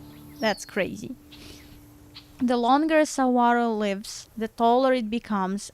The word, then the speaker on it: saguaro: Saguaro cactus. No, not cactus. Stop that. Okay. Saguaro.